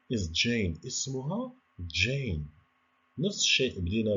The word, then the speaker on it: Jane: شوفوا هذيك الجي ماشي بحال في العربية، هي راه كاينة عندنا اللي كيحفظ القرآن الكريم غادي يعرف بأن هذيك ج يعني بحال كاينة واحد الد، ولكن ما كنشوفوهاش ولكن كنطقوها Jane.